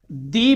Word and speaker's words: the: उसी तरह से आर्टिकल द को, इसके भी 2 उच्चारण हैं। इसके भी 2 उच्चारण हैं। इसे दी भी कहा जाता है और इसे द भी कहा जाता है।